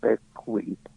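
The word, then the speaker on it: Bequia: Caribbean, in the Eastern Caribbean, an island called Beckley. It is spelled B E UI A, but it is pronounced Beckley and it is an island governed by the island of St.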